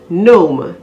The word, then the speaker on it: gnome: s-t-a-r-t start s-t-a-r-t-e-d started we do not pronounce the g if it is followed by an n additionally if the word